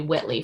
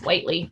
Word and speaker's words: Whitely: how to pronounce it everyone called me Whitley for like ever it's Whitely by the way um so I'm sorry